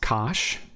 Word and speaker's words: cosh: cosine graph hyperbolic cosine in north-america can often be pronounced as cosh just sort of as it looks so you may instead